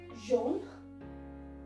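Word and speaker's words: jaunes: form of yellow is john john goes there is no pronunciation of s here all right we are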